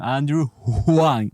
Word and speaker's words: Huang: of this sketch then I corrected the pronunciation Andrew hang with an H so over here I used